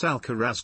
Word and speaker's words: Alcaraz: Carlos alarz Carlos alcaras garia Spanish pronunciation born the 5th of May 2003 is